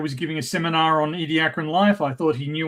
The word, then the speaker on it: Ediacaran: The pronunciation I've always heard is Ediacaran.